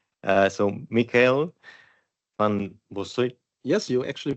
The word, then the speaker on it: Michael van Bossut: Moving on to my next speaker, whose last name I for sure will mispronounce. So, Michael van Bossut.